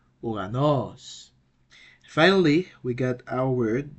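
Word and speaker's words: οὐρανός: so it's U and the right pronunciation will be uranos uranos finally we got our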